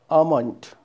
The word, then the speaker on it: almond: Next one, L is silent. Almond.